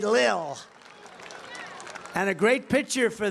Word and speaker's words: Lil: pump L Lil I said how do you pronounce that they said Lil and a great picture for the New York